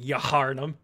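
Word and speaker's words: Yharnam: spelling is a y-h-a-r-n-a-m so there is an h at the beginning that's near the beginning i remember there being that weird extra h that i that at least i don't pronounce i don't think about it being yaharnum tam thank uh well uh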